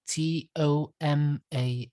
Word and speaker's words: Tomas: thomas remember it's spell t-o-m-a-s no h because my name comes from well argentina that's where i was born and it's actually pronounced tomas anyway the art of